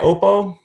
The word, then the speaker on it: OPPO: Is that how you say it? OPPO? OPPO right.